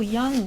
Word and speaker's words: Young: prononces toujours Young, mais c'est plutôt Young.